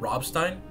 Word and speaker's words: Rammstein: they used um the the rock band rammstein is how you pronounce it yeah promise Rammstein